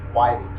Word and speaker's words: Withings: and then they changed the name it it's Widing wi t h i n gs it's a